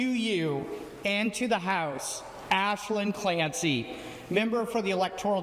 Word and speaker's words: Aislinn: like almost everybody does, because it's spelled A-I-S. Yes. L-I-N-N, but you do not pronounce it Aislinn. You pronounce it Aislinn.